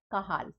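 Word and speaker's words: Cajal: horizontal cell of kahal so how it is pro pronounced not C it is horizontal cell of kahal K it is pro pronounced as K and they are also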